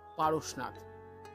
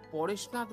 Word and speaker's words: পারসনাথ: এই পারসনাথকে অনেকে পরেশনাথ বলে আখ্যায়িত করে থাকে যা সম্পূর্ণ ভুল। জৈন ধর্মের 23 তম তীর্থঙ্কর হলেন পারশ্বনাথ। হিন্দিতে উচ্চারণ করলে পারসনাথ হয়। তিনি এখান থেকে মোক্ষ লাভ করেছেন বলেই তার নাম অনুসারে এই জায়গার নাম হয় পারসনাথ বা পার্শ্বনাথ বলা যেতে পারে বাংলায়। তবে পরেশনাথ একেবারেই নয়।